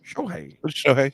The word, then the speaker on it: Shohei: How do you pronounce his first name? I think it's Shohei. What do you think, Mikey? Shohei, yeah.